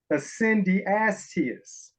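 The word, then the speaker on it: eccedentesiast: It sounds like a Bible book. It's called an Ascendiastes.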